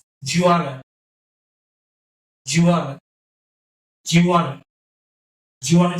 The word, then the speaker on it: Juwanna: And do you, these two words will combine together to form as something which spells, which is pronounced like Jew, Jew, Jew, Jew, and want to, wanna, Juwanna, Juwanna, Juwanna.